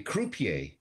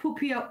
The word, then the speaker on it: croupier: Croupier. Croupier. You're gonna have to spell that, Jim. D R O U P I E R. Croupier. Oh, poupier, pouperay. No, croup, with a C. C R U P E R. I E R.